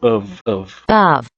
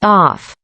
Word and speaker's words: of: Preste atenção também no of. Of. E não of. Off. Muitas pessoas acabam pronunciando esse of como off, mas na verdade é um of. É como se fosse um A e um V.